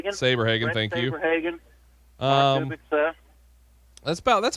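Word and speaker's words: Saberhagen: pitcher how do you say his last name sabre hagan thank you that's about that's about it right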